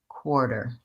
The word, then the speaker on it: quarter: those links for today let's just think about stretching the first syllable core and being fast on the second syllable quarter next thing to watch